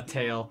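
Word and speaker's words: Tael: can't how do you say that name uh tail tail yeah no no it's okay so it's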